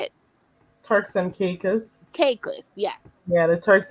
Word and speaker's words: Caicos: Turk and Caucasus. Is that how you say it? Turks and Caicos.